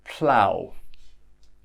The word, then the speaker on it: plough: Let's continue with the ow sound. So plough. Plough is something that a farmer uses on his fields.